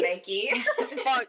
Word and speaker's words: Nike: I'm like, Nike. Not Nike. long E. The I is a long E.